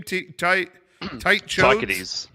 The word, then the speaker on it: Tychades: Tychades.